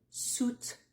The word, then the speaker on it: suitcase: une valise a suitcase tu ne prononce pas le i donc tu vas juste prononcer ou suitce suitce un bagage à main